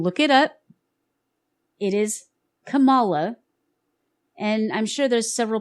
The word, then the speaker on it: Kamala: what I find hilarious is the way they're pronouncing her name Kamala is not how it's pronounced and not even how she not even she herself used to pronounce it that way Camala or Camala actually it's Camala Camala is the Indian name that her Indian